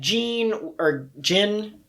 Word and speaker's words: Gin: It was Geen. Yeah. Geen.